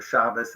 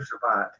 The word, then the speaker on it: Shabbat: Hebrew uh they actually pronounce the sof and T as an S asent right like they say Bas instead of bayat or chabas instead of Shabbat yeah I've heard chabz